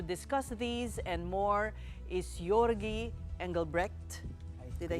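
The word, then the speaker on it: Georgi Engelbrecht: And joining us tonight to discuss these and more is Yorgi Engelre.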